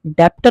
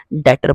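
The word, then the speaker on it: debtor: हम बोलते हैं डेप्टर बी इसमें साइलेंट होता है इसलिए हम डेप्टर ना बोल के डेटर बोलते हैं और किसका किसको पैसे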